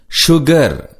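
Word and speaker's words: sugar: சுகர். எஸ் என்ற எழுத்து இங்கு ஷூ என்ற உச்சரிப்பில் வருவதை கவனியுங்கள். பொதுவாக எஸ் ஹெச் என்ற எழுத்துக்கள் தான் ஷே, ஷூ, ஷீ என்ற உச்சரிப்புகளில் வரும். நீங்கள் ஏற்கனவே படித்த ஷெட், ஷூ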